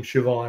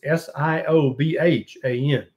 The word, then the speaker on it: Siobhan: how to, I literally, when I saw the name Siobhan, I did not know that's how you pronounced it. So it's S-I-O-B-H-A-N.